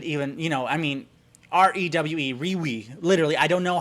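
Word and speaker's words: REWE: how you would even you know i mean r-e-w-e re-we literally i don't know how to like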